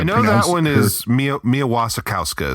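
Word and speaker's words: Mia Wasikowska: I'm not going to try to I know that one is Mia Mia Wasakowska is how you pronounce her name.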